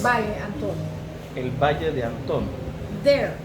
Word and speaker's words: Valle de Antón: I hope that's how you pronounce it correctly. Yes, it's Valle De Anton.